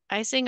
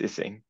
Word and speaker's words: Ising: is it icing or ising, or I just want to say it properly? It's ising.